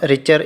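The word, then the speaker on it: Richter: टी इसमें silent होता है, इसको हम रिचर स्केल पढ़ते हैं, ओके।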